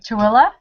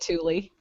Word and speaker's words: Tooele: never said it right tooele yeah yes good job yeah well that's cuz she said it like every five minutes when i was there in april and I'm like that is not how it's spelled everybody calls it to Lee truly family in girl